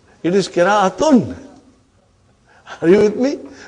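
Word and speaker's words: قراءة: When you say qira'a, you did not pronounce ta marbuta. Iski qira'a bahut achhi hai. What is the meaning of that? His recitation is excellent. So, qira'a is qira'atun.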